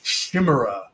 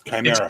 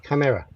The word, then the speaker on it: chimera: was a Chima mispronounce it they didn't even mispronounce it in the common way of Chima they did it all French you me Shima Shima it's it's sort of shim like Chicago